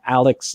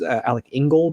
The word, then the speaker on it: Alec Ingold: I think in a Alex Alec Ingold I believe is how you pronounce his name I think way that